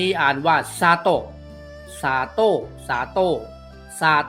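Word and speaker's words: 砂糖: นะ ครับ ต่อ ไป ตัว นี้ อ่าน ว่า ซา โตะ ซา โต้ สา โต้ ซา โต้ มิ มี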